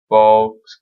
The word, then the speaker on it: balcony: Balcony makes me sick. Louder. Ah! The word is borrowed in from Italian and it was pronounced balcony.